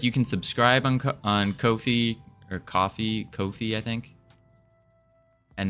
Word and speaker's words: Ko-fi: Ko-fi. I'm pretty sure that's how you pronounce it. Ko-fi. Okay. Ko-fi. I'm just going to call it coffee, though, because they have a coffee mug.